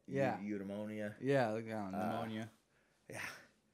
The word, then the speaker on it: eudaimonia: Eudaimonia it's spelled like edamame. Yeah. Eudaimonia.